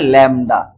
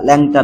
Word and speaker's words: ল্যামডা: এটাকে বলা হয় ল্যামডা, বলা হয়, দেখো উচ্চারণ কি হবে, ল্যামডা, ল্যামডা, ল্যামডা, ল্যাংটা না, ল্যামডা, ঠিক আছে।